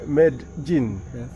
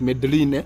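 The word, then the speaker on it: Medellín: don't know language maybe medin no in Kenya you could you could pronounce it as medine mhm but in that place where he got the name they call it medin medin yeah oh my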